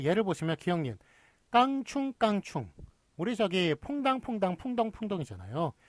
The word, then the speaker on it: 깡충깡충: 것들을 해보도록 하겠습니다 자 그 예를 보시면 기형인 깡충깡충 우리 저기에 퐁당퐁당 풍덩풍덩 이잖아요 상식적으로 생각해서 깐 총 깐 총이 크게 양성 몸이니까 서로 어울리는 거 맞겠죠 그런데 뭘 표준으로 삼아 씁니까 깡충깡충 을 표준으로 삼았습니다 이런 류의 서는 깡충깡충 1